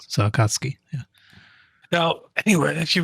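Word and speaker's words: 紅月: Yeah, the U is kind of swallowed. Yeah. So it's almost like it's not there. Yeah. Right. So Akatsuki, yeah.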